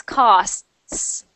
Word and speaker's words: costs: cost costs so uh there is a t but it is very short yeah exactly costs costs so make the T even smaller so try this cost